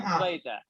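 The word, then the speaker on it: द्वैत: Sanskrit is Dvaita, only A. Dvaita. Okay, Sanskrit does not have two A's. Only one. Only one A. Remember that.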